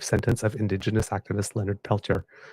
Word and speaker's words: Peltier: oh about time Leonard peler by the way peler is how he pronounces it yes because American sorry